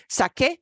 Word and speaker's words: saqué: We have to spell it Q-U to get back to the k sound, okay? Because C-E sound for S-A-C-E would make the wrong sound. So, saqué, that's just an irregularity in spelling.